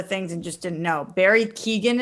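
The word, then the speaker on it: Barry Keoghan: and just didn't know barry keegan is how you say it i believe so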